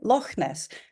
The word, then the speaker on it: Loch Ness: But I say Loch Ness. So that CH, because I'm Scottish and because I know this is a Scottish word, to me will be pronounced.